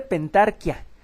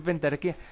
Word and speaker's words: pentarquía: Estas 5 en conjunto se llamaban bueno, se pronuncia correctamente pentarquía, pero yo estoy acostumbrado a decir pentarquía.